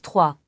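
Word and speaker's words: trois: On prononce 3. Le S ne s'entend pas.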